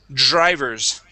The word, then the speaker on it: drivers: uh Dr drivers okay we we create a vibration there D drivers drivers okay almost okay let's